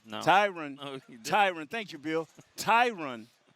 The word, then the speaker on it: Tyron: you know and tyron kind of is i'm pronouncing right tyrant tyron tyron thank you bill tyron has kind of